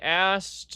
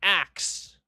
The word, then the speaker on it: ask: Um I asked um I asked by the way it's ask it is not axe.